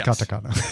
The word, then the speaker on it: katakana: I said I said We both said it wrong. It's Katakana.